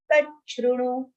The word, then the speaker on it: तच्छृणु: Yatha jnasyasi tachrunu. Cha, cha and ru. Tachrunu. Next, second shlok.